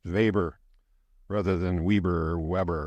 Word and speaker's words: Weber: He's a German sociologist. That's why it's pronounced Weber rather than Weber or Weber or something like that.